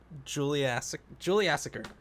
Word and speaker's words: Juliassacre: Juliassacre.